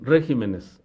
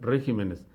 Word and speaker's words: regímenes: palabra sobre esdrújula no la norma establece simplemente que este es el régimen para hacer el plural trasladan el acento de la sílaba re a la siguiente sílaba entonces lo correcto es decir regímenes esa es la forma correcta no regímenes prosiguió espantoso aparte y